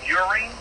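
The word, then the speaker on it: Euring: My last name is pronounced Uring, E-U-R-I-N-G.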